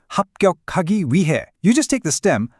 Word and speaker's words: 위해: When you say 위해, that H sound is often super soft, so a lot of the time it just sounds like Wi-hae.